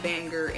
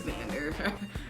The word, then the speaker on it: Vander: I kept saying Vanger, and it's Vander.